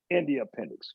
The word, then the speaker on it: Endeya Penix: I said her name wrong. It's Shandra Bennett. And then it's Aija Penix, Endeya Penix, correct?